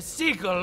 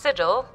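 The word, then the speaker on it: sigil: when my bear was more than just a seagull on my shield it's pronounced Siddall mark my words computer lady markleham bring back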